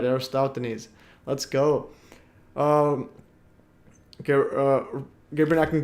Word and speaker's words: Eratosthenes: It's pronounced Eratosthenes. All right, Eratosthenes.